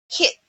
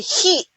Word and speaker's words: hit: that like for example we filipino sweet pronounce the vowel letter i with e e begin but in english we don't say e like when you say hi hit h-i-t we don't say heat if we say heat then that is a different word but if in english